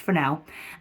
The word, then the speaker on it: Fresnel: fresnel um then that will help but it's pronounced for now um and you can use barn doors on